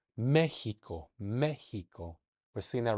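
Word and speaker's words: México: That is the case in Mexico. Mexico. Mexico. I said that like an H. Mexico.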